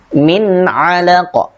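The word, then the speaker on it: من علقة: Kemudian berikutnya yaitu nun sukun bertemu dengan ain, maka dibaca jelas juga, min alaqa, min alaqa.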